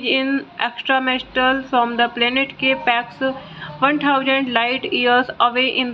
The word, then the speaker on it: K-PAX: After claiming he is in extraterrestrial from the planet Capex, 1000 light years away in the Lyra constellation, thought not capitalized and pronounced with a long O rhyming with bot, is committed to the Psychiatric Institute of Manhattan.